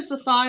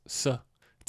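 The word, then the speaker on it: Cythai: have you put your zigh on yet that's because you're pronouncing with a zed and it's s it's a c SI not Z same thing really anyway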